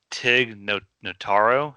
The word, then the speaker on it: Tig Notaro: I think Mikey's a little angry about this one, but Tig Notaro, is that how you say his name?